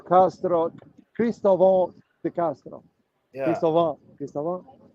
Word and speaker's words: Cristóvão: Cristóvão. Cristóvão. It's like What was the Christopher. right? No, I know, but what's the right pronunciation? I wanted to right Cristóvão. pronunciation. Cristóvão.